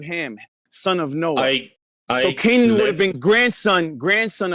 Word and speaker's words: Canaan: So it's pronounced Kanan, by the way, his name.